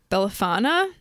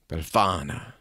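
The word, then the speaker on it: Befana: witch that visit you she's called bellana if I'm saying that right but she's an old woman spell it b e LF A N A bana yeah that's better yeah she spills the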